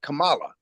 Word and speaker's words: Kamala: I've learned to say her name right, okay? Because it's like the African dialect is Kamala, right?